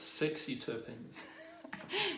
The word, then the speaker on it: sesquiterpenes: Sorry, I think you mispronounced that. It's sexy terpenes.